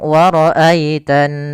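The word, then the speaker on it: وَرَأَيْتَ: Pada lafal wara'aita di sini ada bacaan lin. Ditandai dengan adanya huruf ya sukun yang didahului dengan huruf fathah, maka lembut dalam pelafalannya.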